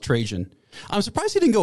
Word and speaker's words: Trajan: This is when the Roman emperor, it's pronounced Trajan. Was he trying to make it sound like transgen or I've always heard it pronounced Trajan.